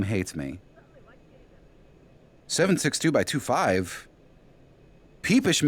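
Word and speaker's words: PPSh: 762 by 25 peepish m. Okay, I I apologize game. I apologize. I know most people pronounce it papa, but must confess a certain fondness for the term peepish.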